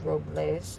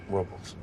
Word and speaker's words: Robles: They call it Paso Robles, Well, the correct pronunciation is Robles. but they call it Robles.